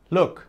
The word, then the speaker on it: look: ¿Se pronuncia igual? No. Esta palabra se pronuncia look.